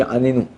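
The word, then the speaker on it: עננו: Juste des petits points au niveau des slichot, quand on dit Anenu, ok, Anenu, et là, Ademir, ouais. Il faut faire attention de mettre un accent tonique sur le premier Nun.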